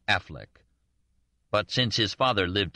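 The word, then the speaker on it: Auchinleck: heir to the modest estate of organlic which he pronounced Affleck but since his father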